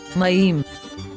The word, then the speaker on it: מים: So, we have a ma, then a ye, then an m sound.